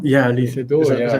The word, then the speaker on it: Lee Sedol: with, and I might even get this name wrong, is Okay. Li Xizong. Yeah, Lee Sedol, Is that yeah, correct?